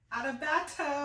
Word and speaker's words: Adebayo: start of college, Adebayo. You did not say my name right. Adebayo. There we go.